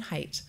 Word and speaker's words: Haidt: I've learned the preferred pronunciation of my board chair's last name, Jonathan Haidt.